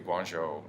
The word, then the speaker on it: Guangzhou: I have a teacher who's headed to Guangzhou, China. I don't know if I'm pronouncing that right at You all. are Guangzhou.